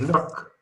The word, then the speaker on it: Locke: En el capítulo 7, entonces, Locke, que no es Luke, es Locke, vale, podemos llamar como quieran, ¿no? Originariamente en inglés se pronuncia Locke.